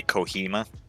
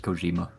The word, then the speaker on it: Kojima: the did you say kohima I said Kojima I think you said kohima I'm gonna pronounce it as kajama kajaman 's birthday was yesterday wow that's pretty funky he was 59.